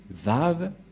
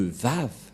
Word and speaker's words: Vav: Nous allons voir cette parole de confirmation que pour les Juifs, le W se lit V.